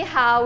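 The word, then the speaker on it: 蝦: Ha is how it's pronounced shrimp in Cantonese, and because it sounds like laughing, it represents the wish of happiness.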